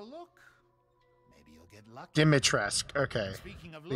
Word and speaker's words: Dimitrescu: Dimitrescu. Okay. Speaking of the U is silent.